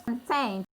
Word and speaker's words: content: The stress is on the second syllable to show that it's a satisfaction. To show that the meaning of content here is a satisfaction of something.